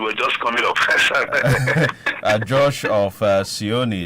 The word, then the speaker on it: Cionee: Josh of Sioni. Sioni is spelled CIONEE TV.